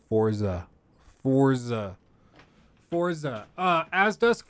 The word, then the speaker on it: Forza: feel crazy I know I don't know why that's like the the inclination to pronounce that way forts uh no it's Forza Forza Forza uh as